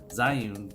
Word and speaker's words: Zhiyun: have so you've got this zoom crane or ew i think is the correct pronunciation zyoung crane b2 which is